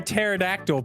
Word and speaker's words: pterodactyl: Why can't you hear a pterodactyl pee? I know the answer. Because the P is silent.